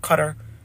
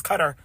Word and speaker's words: Qatar: Qatar. They always say, you're saying it wrong, Mom. It's not Qatar, it's Qatar. Qatar.